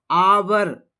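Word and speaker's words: hour: आवर A silent है। आवर आवर से हो रही है इसकी शुरुआत।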